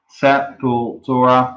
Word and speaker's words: Sepultura: well better local shows how Canadians pronounce Sepultura set pool Torah yeah that's how I say it as well so buckle I just say Sepultura that's not why you